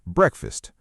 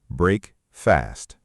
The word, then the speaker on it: breakfast: Now let's look at the word breakfast. Break fast. It is pronounced breakfast, not break fast. The A sounds like you.